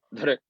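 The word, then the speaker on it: dhṛ: Entonces se pronuncia como dr, como si quisieran pronunciar una R sin vocal, aunque naturalmente emerge una pequeña I o una E. Dr.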